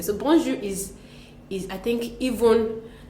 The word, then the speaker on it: bonjour: it the wrong way you would hear bonu bonu bonon I think the funniest I've heard is but then how is it how is it properly pronounced we the thing is that that J does not exist in French and that's what most many people do not know we do not have that that thick J in French what we